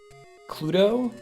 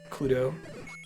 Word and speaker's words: Cluedo: I've only seen it written as Cluedo. But it was meant to rhyme with clue.